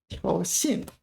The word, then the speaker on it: 挑衅: Okay, 挑衅挑衅 This is one of these cases where this is pronounced third tone.